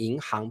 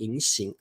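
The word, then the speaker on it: 银行: 好，这个应该念银行，不是念银行。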